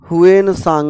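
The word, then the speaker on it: Hsuan Tsang: सा धर्म अपनाया था हुन सांग मैंने कल भी कहा था सांग में टी साइलेंट रहता है चलिए अब हम लोगों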